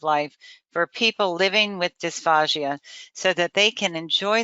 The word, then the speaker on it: dysphagia: Her goal, which is a fabulous goal, is to improve the quality of life for people living with dysphagia so that they can enjoy their food and eat with dignity.